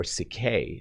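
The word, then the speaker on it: ψυχή: actually in greek uh it is psyche or cicay is how it's pronounced but psyche is literally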